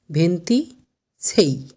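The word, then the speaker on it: ventisei: ঠিক একইভাবে 26 ভেন্তি সেই।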